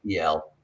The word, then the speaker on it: El: was Azazel yell yes it might have been just an L originally but it's pronounced El and um Jason El